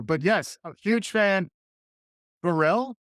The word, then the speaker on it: Pharrell: it's the accent yeah. on the second syllable that I'm having trouble with.